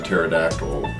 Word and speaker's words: pterodactyl: So why can't you hear the pterodactyl going to the bathroom? Because the pee is silent.